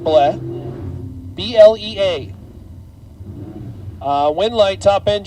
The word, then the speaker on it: Blea: I think it's pronounced Bleh.